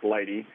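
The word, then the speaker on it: lighttpd: lighty which is the lightht tpd but it's pronounced lighty as well as nginx which is another very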